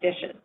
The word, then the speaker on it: DHSES: referred to as the acronym dhses pronounced dishes this presentation and the